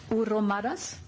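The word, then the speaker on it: hromadas: Almost 1,000 smaller towns in the European Union have partnerships with municipalities in Ukraine, with Uromadas, correct? Good pronunciation, very good.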